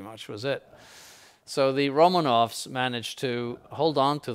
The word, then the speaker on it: Romanov: 1600s and at first romanovs are i shouldn't say first romanoff sorry and by the way in russian that's pronounced romanov the first romanoff uh